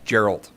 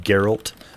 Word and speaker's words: Geralt: hot one waiting for you his name is Gerald it's pronounced Geralt but yes I agree with what you're saying